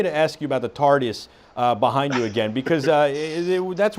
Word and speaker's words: TARDIS: So let's just recap one more time about this Tardis. Am I pronouncing it correct, by the way? Yes.